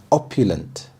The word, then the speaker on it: opulent: Opulent, opulent. The stress is on the first syllable, opulent.